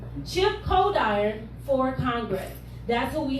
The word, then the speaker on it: Coldiron: now we have chip cauldron for congress cold iron uh cole dyer oh i was sitting around all this stuff cold iron he was saying it right chip cold iron for congress that's what